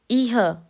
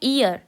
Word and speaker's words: ihr: इह, अब इसको बहुत लोग बोलते हैं इह, नहीं ये है ईयर। ईयर। अब ये कैसे बना ईयर, दू प्लस दू इज इक्वल टू ईयर।